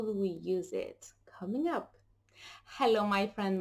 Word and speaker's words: y: What does it stand for? How do we use it?